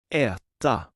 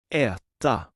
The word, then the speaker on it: äta: Try pronouncing the Swedish verb to eat. Äta. Äta.